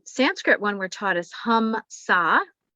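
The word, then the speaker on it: hamsa: one we're taught is hum sa hum saw which is spelled h-a-m-s-a which is that i'm one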